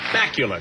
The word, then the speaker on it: Bakula: bakula i'm pronouncing it right bacular bacular like dracula yeah did you get